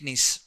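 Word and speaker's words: gneiss: Granetic knees. Entire peninsula plateue of India. What type of rock is there? Granetic n in this G silent when you pronounce it you have to pronounce with more stress on I.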